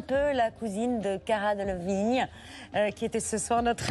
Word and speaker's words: Delevingne: De passage à Paris pour la Fashion Week, l'actrice Cara Delevingne était invitée sur le plateau de C'est à vous.